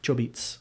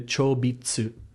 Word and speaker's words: Chobits: Chobits. Is that how it's actually pronounced? Yep. Ah. Chobits. I've never heard anyone say it like that. Because the chobitsu.